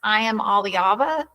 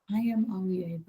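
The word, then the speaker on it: Iamaleava: I believe it's pronounced I am Aliaba or Alva. I am Alva.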